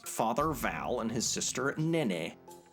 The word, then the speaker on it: Nene: This is where Van lives with his father Val and his sister Nene. I think that's how you pronounce it. As a kid, I pronounced it nin.